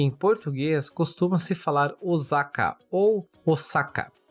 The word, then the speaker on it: Osaka: falar Osaka ou Osaka Porém na pronúncia japonesa há um prolongamento do o tanto que no furigana acima do kanj possuem duas vezes o hiragana o e o saka é pronunciado com s e não Z ficando o sacá e a segunda observação